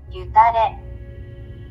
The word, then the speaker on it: Gyu Tare: This is how you actually pronounce it, according to Google. Gyu Tare.